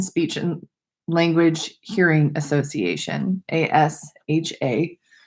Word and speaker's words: ASHA: It's the American Speech and Language Hearing Association, ASHA. I know there's language in there, but the L is silent. So it's ASHA.